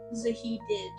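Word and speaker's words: Zahedi: his name right because he's horrible uh sahiti pronounced fazlo Paul zahid zahid okay um sorry to be the new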